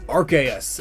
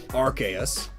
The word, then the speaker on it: Arceus: Arceus is pronounced that way, Arceus, but it's also pronounced Arceus. Both from official sources.